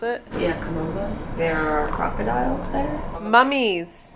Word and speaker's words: Kom Ombo: Is that how you pronounce it? Yeah, Kom Ombo.